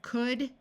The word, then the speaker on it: could: the uh sound of could should and would notice that the L is silent in all of these words while AI almost always